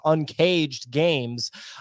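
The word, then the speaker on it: UNKJD Games: out to uncaged games that's un kjd it's pronounced uncaged games um that's un K jd.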